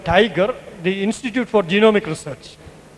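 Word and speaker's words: TIGR: company which he plotted for this was called tiger The Institute for genomic research in short The Institute for genomic research it is not although it is tagr he used to pronounce it the tiger because he wants to have that stump of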